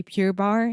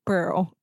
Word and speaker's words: Pearl: I think that I got used to say Pure Bar so much. And you used to correct me so much with pure. And I can't say Pearl.